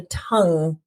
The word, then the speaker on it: Tunng: a British group called, I think they're called The Tongue, which is spelled Tunng.